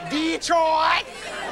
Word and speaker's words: Detroit: Detroit. Yes. It's not Detroit when you're from there. It's Detroit. Yes.